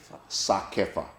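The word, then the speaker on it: CSACEFA: Correct me if I pronounce it correctly. Kasefa. Sakefa. Wow. Okay. So the C is silent.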